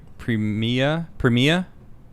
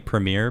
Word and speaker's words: Premier: I guess Premia is how you pronounce. I've been saying premier because my English accent, but it's Premia. Oh, that's the Australian way to say it.